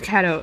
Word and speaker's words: Kato: Do you mean Kato? His name's Kato. Okay, I was saying it wrong the entire time.